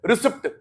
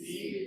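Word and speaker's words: receipt: पता है क्या बोलते हैं? रिसीप्ट। पी साइलेंट होता है बेटा। ठीक है ना? रिसिप होता है। रिसीप्ट होता है। क्या होता है? रिसीट।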